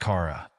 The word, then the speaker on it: Cara: She calls her Charara, pronouncing it Cha, as in Chaa. My daughter's name is pronounced Cara, meant to combine her father's name, Chris, with mine Sarah.